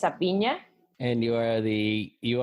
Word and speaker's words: Avina: fine yes that's correct it's not a B Mia it is actually well in Spanish it's a Pina and you are the